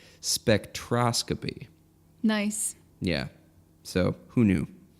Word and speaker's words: spectroscopy: number two it's we were both wrong it's pronounced spectroscopy nice yeah so who knew not us not